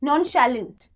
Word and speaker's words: nonchalant: हाँ, yes, nonchalant. Here the pronunciation is sha.